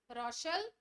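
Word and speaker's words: Rochelle: दिया हुआ रशियल, इसको क्या बोलते, शेल क्यों प्रोनाउंस करते हैं? CH लिखा होता, सोडियम पोटेशियम टार्ट्रेट को क्या बोलते हैं, रॉशल सॉल्ट।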